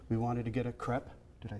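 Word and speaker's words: crêpe: a side street we wanted to get a crep did I say right you said it right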